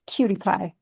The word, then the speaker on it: QTPI: Pronounced cutie pie, which is the cutest acronym ever.